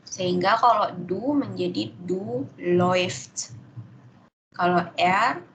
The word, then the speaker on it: läuft: Kenapa kok dibaca oi? Karena kalau au melat kan dibacanya e. E ketemu u jadinya oi. Gitu. Sehingga kalau du menjadi du läuft. Kalau er läuft.